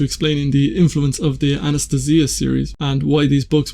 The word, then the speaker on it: Anastasia: In the book, Megre emphasizes that the pronunciation is Anastasia, whereas I would be normally calling it Anastasia.